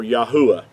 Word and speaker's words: Yahuah: praise unto yah or yahuwah yahuwah being his whole name pronounced out with the four letters instead of the two